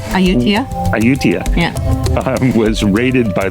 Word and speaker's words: Ayutthaya: We are at Ayutthaya. It is Ayutthaya. I've been practicing. Ayutthaya. If we've got the pronunciation wrong, please forgive us, and maybe you can correct us phonetically in the comments.